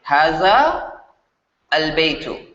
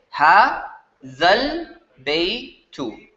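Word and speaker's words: هذا البيت: So when you're reading these two words separately, you would say haza al-baytu. But if you want to read them connectedly in one breath, what you do is this long vowel is going to be pronounced short, meaning pronounced like a short vowel. So you're going to pronounce this like a fatha. Instead of a za, you're going to get ha zal baytu. Hazal baytu. Just like this.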